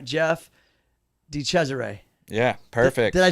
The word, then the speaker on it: DeChesare: Jeff DeChesare.